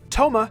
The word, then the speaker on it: Thoma: origins outside of inazuma toma spelled t-h-o-m-a sounds the same as the japanese name toma spelled t-o-u-m-a but also sounds just like the french name thomas with a silent s at the end this hints at him